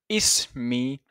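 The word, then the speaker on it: اسمي: we say for hello is me Ali so hello my name ishan is me Ali so is me as if we are saying is followed by me so we say is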